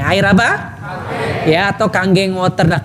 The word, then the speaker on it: Kangen: Kang ya atau kanggeng water. Nah, kanggeng ini bukan kangen bacanya Bapak Ibu sekalian ya.